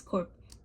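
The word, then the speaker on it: Corps: that be crazy peace cor now she says remember the the p is silent let's see if we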